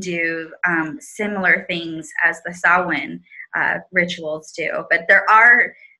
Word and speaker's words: Samhain: It is a festival of the dead, and to honor our ancestors means summer's end and pronounce Samhain or saah-win.